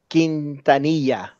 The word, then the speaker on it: Quintanilla: Oh, Selena Quintanilla. That's There her you name. go. Yeah, that's right. How do you spell that? Quintanilla. Like tortilla.